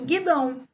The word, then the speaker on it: guidão: E para terminarmos, nós temos guidão, onde o U também não é pronunciado.